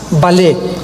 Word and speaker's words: Vallée: El más grande experto en ufología o en ovnis se llama Jacques Vallée, con B de Víctor y doble L. Vallée se escribe, Jacques Vallée, Vallée en francés.